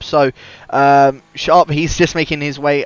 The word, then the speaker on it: Zarp: I got a message from Zarp last week, actually telling me to pronounce it as Sharp. So Sharp, he's just making his way around the 3rd sector now.